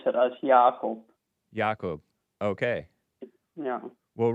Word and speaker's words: Jacob: Is it JACOB?